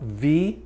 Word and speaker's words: Vie: It's the model Vie, V-I-E, but it's pronounced V.